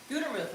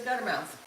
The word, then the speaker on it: Gutermuth: Gutermuth is mine, but everybody says Guttermouth.